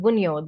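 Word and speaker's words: Wunjo: This symbol is called Bunyo. The J is silent.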